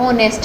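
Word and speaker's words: honest: बोलते यह ऑनेस्ट है असल में अगर सही प्रशिक्षण देखा जाए तो यह ऑनेस्ट है इसमें साइलेंट रहता है तो जॉब्स साइलेंट हो गया तो इसको तो हटा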